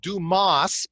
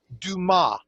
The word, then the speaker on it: Dumas: spoke on the phone I gave it the old english pronunciation of Dumas pronouncing the s but it is do ma correct yes it is